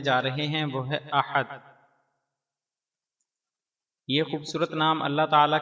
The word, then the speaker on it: احد: سے تعلق رکھتا ہے۔ تلفظ اور اعراب: احد، الف پر زبر، ہا پر زبر، دال پر جزم۔ معنی: اپنی ذات و